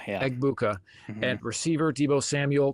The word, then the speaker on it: Egbuka: Is it Abuka? Is that how you say his name? Egbuka, yeah. Egbuka.